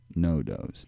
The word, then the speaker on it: NoDoze: spell his music label n o d o z e pronounced no does i would like you